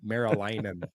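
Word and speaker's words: Meriläinen: I'm gonna have Marylainen. You gotta really pronounce that N.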